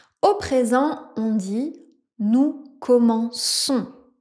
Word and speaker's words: commençons: Et vous voyez le c, on a ce qu'on appelle une sédic devant la lettre O. Si on avait pas cette sédille, on aurait un son que, mais ici, on veut un se donc on ajoute la sédille.